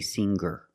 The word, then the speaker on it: singer: When I change these words with ER, I don't pronounce the G sound. It's just the nasal linked together with the Together, hanger, hanger. There's no G sound.